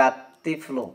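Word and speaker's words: الطفل: করি তাহলে হয়ে যাবে আততিফল এখানেও লামটা বাদ পড়ে যাচ্ছে অর্থাৎ উচ্চারণে আসে না শুধু লেখায় আসছে এরপর দেখেন রজুন এখন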